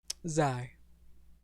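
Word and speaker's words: Zi: Zai.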